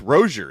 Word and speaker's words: Rozier: So, people called him Rosier, uh but then eventually we started saying it right and he admitted it's Rosier is how he wants it said.